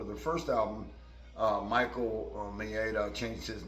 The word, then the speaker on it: Maida: It's hard to pronounce his name. It's Maida.